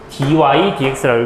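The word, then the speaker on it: dy/dx: 자, 그 다음에 이거 읽는 법이 조금 특이한데, 이 친구는 dy, dx라고 읽습니다. 이렇게 뭐 예분의 예라고 안 읽고, dy, dx라고 읽어요.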